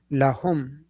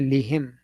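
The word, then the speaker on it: لهم: So that is, lahum. We do not say lihim.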